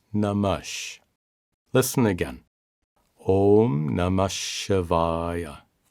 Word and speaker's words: नमः: The most widely used mantra for Shiva is Om Namah Shivaya. Salutations to Shiva. Note that the word Namaha is pronounced Namash.